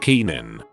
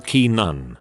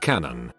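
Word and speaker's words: Canaan: reference for those not in the know it's pronounced keenan or key nun she decided to pronounce it canon canon not only is she one of the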